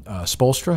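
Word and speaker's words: Spoelstra: They promote this story they did on Spolstra.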